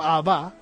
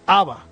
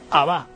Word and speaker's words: Abba: cuando mencionamos esa palabra en arameo, Abba, tenemos que decirlo así, ¿no? No es Abba, ¿verdad? Que lo he escuchado muchas veces, Abba. No, el arameo, el acento siempre lo tiene en la última sílaba, Abba, ¿verdad?